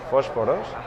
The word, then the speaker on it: Posporos: It's in Spanish, it's pronounced Posporos, and we liked the